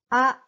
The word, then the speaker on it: あ: The first sound is a. Open your mouth big. A. In English, this letter is pronounced A as well, like ace. But this letter is used to show the sound A in Japanese, not A. So very short sound. A.